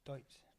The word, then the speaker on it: Deutz: Pronounced D-O-Y-T-Z. Rather than Dutes, it's Deutz. And something new every day.